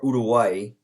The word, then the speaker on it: Uruguay: uruguay irrigate your way i always pronounce that uruguay or udaway if you speak spanish june 10th usa versus